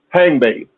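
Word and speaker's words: Hangbe: And hang is spelled H A N GB E. Hang bay.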